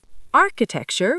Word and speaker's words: architecture: Architecture with a K sound.